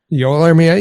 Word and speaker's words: Joel Armia: We're here today to talk about a player whose first name I'm going to ask you to clarify pronunciation. I believe it's Joel Armia? Joel Armia, yeah.